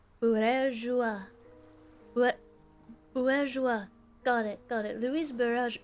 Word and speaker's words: Bourgeois: It's pronounced bourgeois.